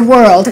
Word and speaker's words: world: In this case, you will have to add an extra sound, an extra vowel between the R and the L.